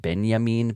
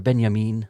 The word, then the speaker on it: Benjamin: And I've also heard it pronounced banyamin but maybe that's only by like the my pedantic uh philosophy friends when I was like working in the university they would be like walter beyamin.